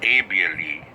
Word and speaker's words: able: And ABLE in Spanish is pronounced able. Able. Because the letter A in Spanish is always pronounced A. Ah.